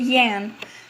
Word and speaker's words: Jan: me is it Ian or jan you know what i'm just gonna pronounce it yan because that's what they do say pronounce the J like that you know what it's